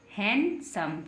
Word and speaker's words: handsome: क्या बन गया, सम, हैंडसम। क्या बन गया, हैंडसम। क्योंकि डी को हमने इसमें नहीं पढ़ा है। कुछ वर्ड्स ऐसे होते हैं जिसमें डी साइलेंट रहता है, तो इसमें हम डी को नहीं पढ़ेंगे, डी को छुपा करके रखेंगे।